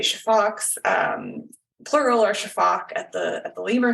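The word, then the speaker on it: Sifaka: what I study and I pronounce pronounce the the word Shaak um it's spelled s f a Ka a um so but the uh s i pronounce like an sh um and I don't pronounce an A on the end um and a lot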